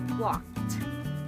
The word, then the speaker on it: walked: We do not say walked, but we say walked. Say it with a T sound, walked.